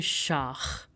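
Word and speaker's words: Schach: So we say shak which means chess.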